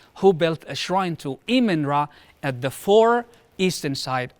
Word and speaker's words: Amun-Ra: So I always pronounced it Amun-Ra. Amun-Ra, yeah, But or Amun-Ra. Amun. Yeah, it's both really are correct depending on the pronunciation in hieroglyphics, actually.